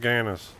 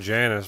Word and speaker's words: Gannis: I keep saying Janice, but he says don't call me that. This is a hard G.